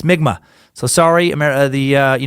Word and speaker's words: Mi'kmaq: mentioned by someone else Mi'kmaq is actually pronounced more like nygma keep on sucking you